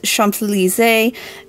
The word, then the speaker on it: Champs-Élysées: So for our last tea, I ended up phoning a friend, aka Mum, for the correct pronunciation. This tea is Champs-Élysées.